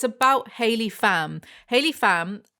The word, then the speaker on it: Pham: Haley Fam, I'm very certain that's how you pronounce fam, though I'm aware out